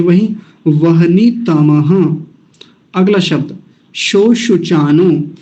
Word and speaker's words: शोशुचानो: चानो show शु चानो उन लोगों के लिए स्पेशली कह रहा हूं जिनको य तालव्य सकार का उच्चारण करने में बाधा होती है तो यहां ध्यान से करिएगा दोनों जगह तालव्य सकार है शो सु चानो सो सु चानो नहीं शो शु चानो श शलम वाला श वो वाला दोनों जगह